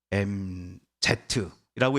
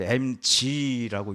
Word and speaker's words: MZ: 여러분 이거 어떻게 읽으십니까? MZ라고 읽으시는 분이 아마 저랑 비슷한 분들이실 거고요. 요즘 아이들은 이거를 MG라고 읽더라고요. MG세대. MG세대는 이 밀레니엄 세대의 영어 앞자 M과 또 Z의 이 Z를 합쳐 놓은 것입니다. 그런데 이 MG라는 말은요, 전 세계 어디에서도 사용되지 않는 우리 한국만의 신조어라고 합니다. 그래서 MG이든지 MZ라고 읽으시든지 간에 상관은 없습니다.